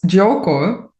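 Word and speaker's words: Giuoco: It just fits um actually it's Joko um Joko is also to play in Italian so it's very fitting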